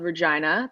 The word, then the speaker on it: Regina: that's I worked in a city called Regina the city that rhymes with fun that is where Connor